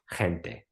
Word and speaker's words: gente: called tequila they're like hente yeah you pronounced the G as a j oh okay mean tequila